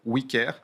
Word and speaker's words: OuiCare: D'ailleurs, c'est pour ça qu'on s'appelle wicker.